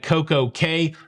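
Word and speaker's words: CocoCay: to perfect day at CoCo Key uh you know you you would be correct from a pronunciation in the Caribbean perspective but from a Royal Caribbean perspective is Coco k a lovely day at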